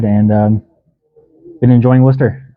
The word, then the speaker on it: Worcester: Um, got here in January, like I said, and been enjoying Worcester. I think that's how you say it.